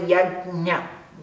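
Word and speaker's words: yajña: Mas a pronúncia mais adequada é yagnya, nha, nha, é esse som, ok?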